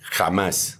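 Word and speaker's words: Hamas: ejemplo a el grupo se escribe h a m a s con acento en la a final eh en español Ah sí eh pero la forma como se pronuncia en el diccionario bíblico esa palabra es kj a m a s jamás jamás jamás jamás jamás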